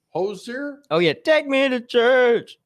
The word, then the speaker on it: Hozier: uh he is probably 41 35 finally singer hosier hozier oh yeah take me to the church is